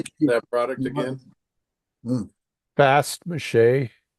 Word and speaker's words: Fast Mache: Fast mache. It's like f a s t uh and space m a c h e is how we pronounce it. Some people call it fast mash, but it's it's it's it's just and it's